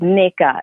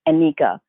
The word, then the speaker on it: Nneka: And there's some parts of Africa where you pronounce the N as well.